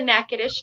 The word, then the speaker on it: Natchitoches: The Natchitoches tribe of Louisiana. Okay, so I did pretty good in pronouncing it.